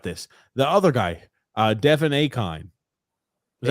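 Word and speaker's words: Achane: The other guy, Devin Akine. Is that how you pronounce his name? A-Chain.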